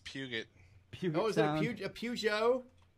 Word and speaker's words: Peugeot: It's pronounced Puget.